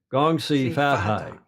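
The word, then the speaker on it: 恭喜发财: Gong Si Fat Hai.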